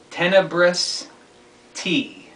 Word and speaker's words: Tenebrous T: the pronunciation thereof anyway my name is to be pronounced tenebrous t tenebrous t and uh that comes from the word tenebrous which if you look